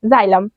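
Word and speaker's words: xylem: हैं पढ़ सकते हैं एक्स का प्रोनंसिएशन एक्स भी होता है और ज भी होता है तो हम लोग जब प्रोनाउंस करेंगे तो इसको जाइलम पढ़ेंगे क्या पढ़ेंगे जाइलम तो अगर आप लोग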